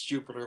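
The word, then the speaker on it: Jupyter: tries to pronounce it it's jupiter like the planet it's all open source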